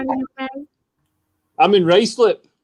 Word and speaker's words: Ruislip: I'm in Ruislip. Ruislip. I always wondered how you pronounced it.